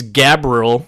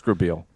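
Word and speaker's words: Grabeel: cuz it's spelled weird it's grab eel like it's spelled like an eel at the end okay it is a white name then yeah Grabel Lucas grael it's grael but yeah uh that's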